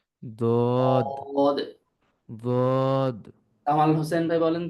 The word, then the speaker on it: ضاد: উপরের মাড়ির দাঁতের গোড়ার সাথে লাগবে, উচ্চারিত হবে দদ। একজন একটু উচ্চারণ করেন তো প্লিজ, দদ।